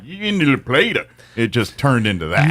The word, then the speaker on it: La Plata: I think La Plata and what you hear here is the true way it's supposed to be said, because it's probably a Spanish origin word to begin with.